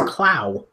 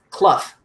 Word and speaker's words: Cluff: did you say Eugene I cluff yeah that's right which is why I didn't it didn't even occur to me that you said it any way other than correct because that's how it's pronounced I always thought it was Justin I see your cat